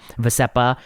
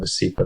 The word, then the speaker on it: Vascepa: I think it's called Vascepa. That's how the advertisements pronounce it.